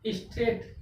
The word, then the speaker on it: straight: स्ट्रेट।